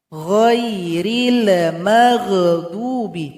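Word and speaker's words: غير المغضوب: Ghairil maghdubi. Lam dan huruf ghain tidak boleh dipantulkan. Ghairil maghdubi. Tidak boleh seperti itu.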